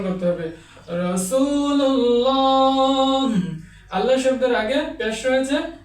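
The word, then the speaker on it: رسول الله: এভাবে উচ্চারণ করতে হবে। রাসূুল্লাহ আল্লাহ শব্দের আগে পেশ রয়েছে।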